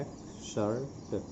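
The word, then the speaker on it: excerpt: एक्सर्ट का मतलब होता है खंड। इसका उच्चारण देख लेंगे, इसमें पी साइलेंट है और इसको पढ़ा जाता है एक्सर्ट, एक्सर्ट।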